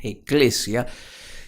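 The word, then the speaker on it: ekklesia: Proviene de una palabra griega, eclesia, así se pronuncia con 2K eclesia.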